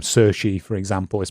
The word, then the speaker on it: Cixi: in Chinese as well because like the name SEI for example is spelled cixi and it's like yeah it's in